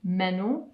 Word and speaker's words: menù: Posso avere Un menù. un menu. So the word for menu is actually the same. Menu. It's just pronounced differently.